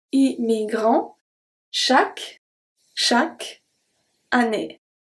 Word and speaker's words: chaque: Chaque. Chaque. Année. So the U and the E at the end of chaque is not pronounced.